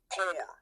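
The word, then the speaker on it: pyr: But it's the Holy Spirit fire, that P-Y-R, that pour, P-O-O-R is the way you pronounce it.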